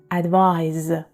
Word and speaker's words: advise: the end advice but advise is a verb and is pronounced z sound at the end advise advice means a suggestion